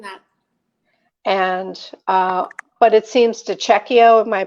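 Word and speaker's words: De Cecco: And, but it seems DiCecchio, am I pronouncing it right? It's got the double C's, Bucatini. DiCecchio.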